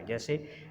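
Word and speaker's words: whose: डब्ल्यू इज़ not pronounced with दीज three pronounce. इन तीन pronounce के साथ जो है वो डब्ल्यू जो है वो प्रोनाउंस नहीं होता। मसलन हु, हुज, हूँ, ये जो हैं ये प्रोनाउंस हैं और इनमें क्या है कि एच आ रहा है और उससे पहले डब्ल्यू आ रहा है तो डब्ल्यू जो है वो साइलेंट होगा।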